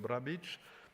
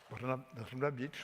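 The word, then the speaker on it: Brnabić: So I launch immediately the discussion, starting with you, Madame Brnabic. I pronounce less well than the first time. Brnabic, well, the first time it went easily.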